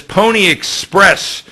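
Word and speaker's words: Pwnie Express: skip this story and go down to this Pony Express story and it's spelled p-w-n-i-e you'll see it on the screen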